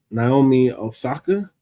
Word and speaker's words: Naomi Osaka: So the next topic is Naomi Osaka.